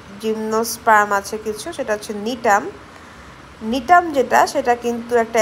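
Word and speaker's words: Gnetum: কি লিখতে পারি নিটাম এখানে জিটা সাইলেন্ট তো এটার প্রোনাউন্সিয়েশন হচ্ছে নিটাম তো ব্যাপারগুলা এরকম যে ট্রাকিডের থেকে কিন্তু ভেসেল বেশি এডভান্সড।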